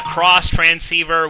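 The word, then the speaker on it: Xtransceiver: And here's the Cross Transceiver, which is spelled X-Transceiver. Personally, I always call it the X-Transceiver because, well, that's how the screen says it.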